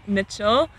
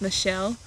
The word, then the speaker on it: Mitchell: my name is mitchell in kenya it would be pronounced michelle i moved to kenya